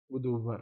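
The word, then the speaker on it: गुदुव्हर: गुदूवर यानी, ठीक है, गु दू और आधा वाह हा और रा।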